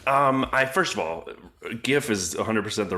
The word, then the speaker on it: GIF: this is very important is it pronounced GIF or GIF GIF 100% GIF you said with a hard I like this guy